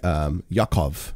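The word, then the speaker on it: יעקב: That's how John would have been pronounced. James, the Epistle of James, would have actually been Yaakov, right?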